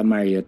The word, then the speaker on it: Marriott: sa Ba't Marriott i-pronounce it? Hotel Gala o po. gala? Oh. Sa Marriott Hotel po, Marriott.